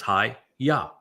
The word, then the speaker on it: haya: And ha tells you how to pronounce the ah the he and the yod. It's hi ya. So the first two letters in Yahweh's name would be yah. Hi yah.